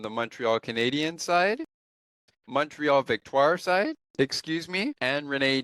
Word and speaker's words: Victoire: If I pronounce your last name wrong or your first name wrong, I apologize for the head coach of Montreal, Vetoir. Victtoire, I should say.